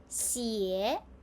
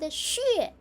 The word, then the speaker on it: 血: Xie and xue. Which is correct? Both of them are correct, but different pronunciation has different meanings. Xie common spoken Chinese words. Chu xie Liu xie Xue is standard formal medical reading.